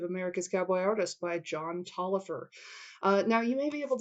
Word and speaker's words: Taliaferro: Just remember, Tolliver is spelled Taliaferro.